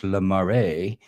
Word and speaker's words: Lamar: But I want to welcome Lamar. It's pronounced in English, Lamare, pronounced in French.